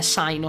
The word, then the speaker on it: Cyno: da associarlo al cane poi sicuramente la pronuncia corretta non è sai no sai non è proprio americana all'ennesima potenza come pronuncia Però io continuerò a chiamarlo zaino Allora zaino abbiamo già